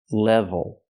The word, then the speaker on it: level: label she means level first we use a short e sound like red and 10 e it's more closed it's short not LA but Le level and we have the V so we need the VV sound with the top lip